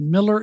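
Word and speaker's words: Mueller: of the old Austin Airport okay it's called Miller airport it's spelled m l l r gets mispronounced as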